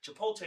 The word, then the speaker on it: Chipotle: of people, but Chipotle we call it Chipotle. I'm from I'm from New York. Yeah. So we pronounce the T.